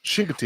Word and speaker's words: Chincoteague: How do you pronounce it? Oh, Chincoteague. That really is. Chincoteague.